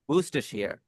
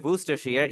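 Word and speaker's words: Worcestershire: इसे हम प्रोनाउंस करते हैं बूस्टर शेयर। यानी आपका जो है आर भी आपका गया। सी ई भी आपका गया। ये आपका जो है ये वाला आर भी गया। शायर को आपने शियर पढ़ा है।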